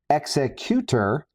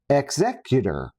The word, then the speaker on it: Executor: One, executor, like executioner, violent, ominous, appropriate for a ship that exists solely to intimidate entire star systems. And then two, exeutor, like the executive of